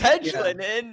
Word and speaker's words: Hedglin: I know it's Hedglin, and like in my brain as I was reading your name, I was like, and the D is silent. It is not. Hedglin. It's like hedges.